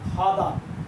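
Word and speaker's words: 가다: Example হলো যেমন খাদা, এটা গাদা না, এটা কি হবে খাদা।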